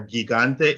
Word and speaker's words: gigante: So for example, GIGANTE is not gigante or gigante, it's gigante. So the G gets an H sound.